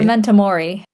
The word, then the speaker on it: memento mori: Memento mori, is that how you say it? Memento mori.